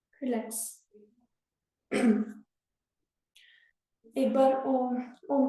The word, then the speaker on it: ओम: एक बार ओम, ओम की ध्वनि करेंगे। ओम की ध्वनि में आ उ और माँ का उच्चारण करेंगे और फिर गायत्री मंत्र।